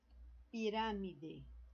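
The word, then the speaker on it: pirámide: Pirâmide. Então, ó, esse RA aqui, ó, é o mais forte, está acentuado.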